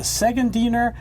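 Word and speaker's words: Szegediner: next is called the segund diner goulash well well done on that phonetically here I'm surprised now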